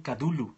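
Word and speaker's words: Cthulhu: justamente los mitos de kulhu mm eh alguien nos dice que lo que los españoles lo pronuncian kadul eh podría ser pues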